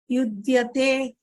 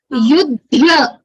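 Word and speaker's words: युध्यते: Yudhya, Yudhya. Yeah? And here you forgot to pronounce the ekara. You said Yudhya. It is Yudhyate.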